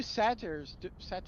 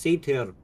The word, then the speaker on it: satyr: What are two satires doing out here in out of the Feywild? We're not from the Feywild. Hey, and it's pronounced satyr, not satire.